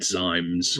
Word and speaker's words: Ximes: And this is all taking place, and again, how do you pronounce this? Ximes, Ximes? I'd have said Zymes. Right. Yeah, I'd say Zymes.